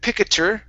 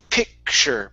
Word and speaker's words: picture: say pick okay and instead of pikachu it's picture picture okay picture there you go